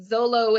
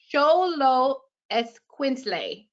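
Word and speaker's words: Xoloitzcuintli: hard word i mean we would say it zolo it's i don't know i couldn't even do it but sholo esquensley is how you say that word did i do it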